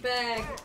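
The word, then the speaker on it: Bagge: It's bag. B-A-G-G-E. Okay, so George had it right. And it's pronounced bag, like grocery bag?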